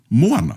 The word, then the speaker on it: moana: So obviously, i Aotearoa nei ko tā tātou whakahua ko te moana. Moana. Yeah? So we stress the moana. The rest of the Pacific actually don't pronounce it that way.